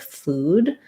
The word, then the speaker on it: food: hearing it's different with food. One thing I would suggest to help you get this vowel in food is to pair it with a word like new, that doesn't have the OO spelling and has the same vowel.